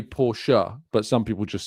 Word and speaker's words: Porsche: It's like, I'd say Porsche, but some people just say Porsche. Well, it's German, so I'd say Porsche because it's German. I wouldn't say Porsche.